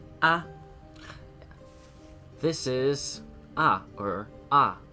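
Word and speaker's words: あ: this is uh or ah it's the equivalent of the vowel a in English you pronounce this as ah ah ah it's a short vowel let's practice writing it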